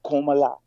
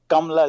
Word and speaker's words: Kamala: pronounce her name correctly it's not komala it's kamla come i'm from india i have many friends whose name is kamla kamala is the correct pronunciation she can't even